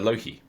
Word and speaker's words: Loque: we're doing the Spire Loki in case you didn't know it's spelled l-o-q-u-e but spider themselves have said that this is pronounced the Loki spyio is a local